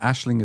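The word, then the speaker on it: Aisling: And Ashling is spelled A I S L I N G.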